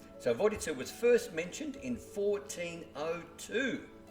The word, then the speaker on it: Vodice: I've looked it up, and according to Google Croatian translation, it's pronounced Vodice. So Vodice was first mentioned in 1402, although it was founded already in the Roman times as Arausa.